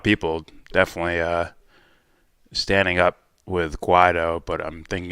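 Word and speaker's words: Guaidó: And by the way, how do you pronounce the name of the legitimate president? It's Guaido, but there hasn't been mass There's been a lot of people definitely standing up with Guaido, but I'm thinking it's more from the we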